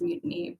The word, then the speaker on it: MUTANI: Yeah, it's about mutiny, but it's pronounced mutiny because, I mean, I'm a bit of a pirate.